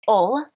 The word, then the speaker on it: Hull: Um and then I lived in another northern town called Hull, which you traditionally pronounce "ull" with the accent.